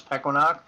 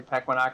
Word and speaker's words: Pequannock: Pequannock, New Jersey, and even though the original Indian pronunciation is Pequannock, we always got a kick out of hearing what few times we'd actually be on the news for whatever reason, and they'd say Pequannock.